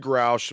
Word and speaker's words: Grusch: So David Grouch, name is spelled Grusch, did some sort of work in the National Intelligence Agency, okay?